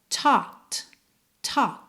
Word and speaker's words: taught: essa anotação mental que essa palavra que se escreve t a u g h t é pronunciada tau t ta.